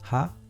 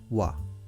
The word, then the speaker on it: は: So what is pronounced ha generally, but when we use this sentence pattern, it is pronounced as wa.